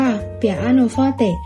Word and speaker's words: เปียโนฟอเต: ใน เครื่อง ตี สาย คำ ว่า เปียโน มา จาก คำ ว่า เปียโนฟอเต อ่าน ออก เสียง ว่า เปียโนฟอเต อิตาเลียน จะ หมาย